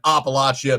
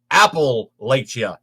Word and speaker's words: Appalachia: appalachia you are a guy from outside of appalachia because nobody pronounces it apple latia it's appalachia that is the correct way to